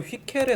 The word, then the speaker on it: Hückel: 해보려고 합니다 그러면 정확한 발음은 휘켈에 가깝다고 하더라고요 근데 휘켈에 가까운데 저는 배울 때 저희 선생님이 핵 캐리어 발음하셔서 정말 실제 여러분들이 실험실에서